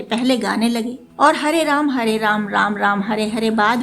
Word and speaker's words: राम: बस विदेशियों की तरह हरे रामा हरे कृष्णा मत कहिए, उनको उच्चारण में समस्या है, पर हमें तो नहीं है।